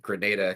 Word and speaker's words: Grenada: And I would note in response, Eleanor, to your elliptical comment that it is, in fact, Grenada, California. Yes. So just for the record, like I actually pronounced it Granada for the longest time.